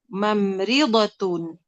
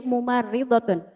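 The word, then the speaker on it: مُمَرِّضَة: Aisyatu thibatun wa ukhtuha mam mamridhatun. Bacanya mumaridatun namanya perawat ya. Artinya perawat mumaridatun.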